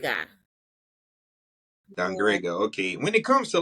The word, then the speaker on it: Dangriga: Man, can you pronounce the name of the town again? Dangriga. Yeah. Dangrega.